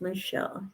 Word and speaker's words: Michel: name marelle which is Michelle yep m show I'm of French Canadian descent and so in French it's Michelle Michel is how you pronounce it so even growing up